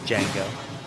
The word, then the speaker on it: Django: Jamie says Django. Can you spell it? And then he spells the whole thing. And then after he gets through spelling it, I had him say, the D is silent.